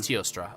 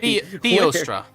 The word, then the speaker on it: Teostra: How do you say your character's name, Shadow? Teostra. It is Teostra. Okay. I keep my brain wants to keep adding an H there. An H, wait. Theostra.